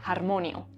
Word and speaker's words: harmonio: yo ll), ĝi the h is pronounced like the one in English or as most Andalusians say the j; harmonio, 'harmony', the ĥ is pronounced like the